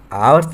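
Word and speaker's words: hours: ठीक है, देखो यहाँ पर एक आर्टिकल का इस्तेमाल हुआ है, ये आवर्स लिखा है, इसको अ से पढ़ा जाता है। ठीक है, इसका प्रोनाउंसिएशन साउंड स्वर से हो रहा है।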